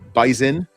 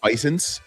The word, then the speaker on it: Bison: I'm really He actually taught me how to pretend or pronounce Bison. Not Bison.